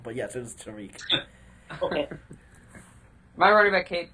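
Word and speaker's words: Tarik: So we're just gonna ignore the fact that Daniel pronounced it Tarek. Okay. Tariq Cohen.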